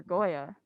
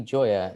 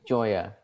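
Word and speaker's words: Gioia: But anyway, on to our entertainment, film and news and TV news with Goya. Hello. How are you doing today, actually Joya. It's actually pronounced like Joya.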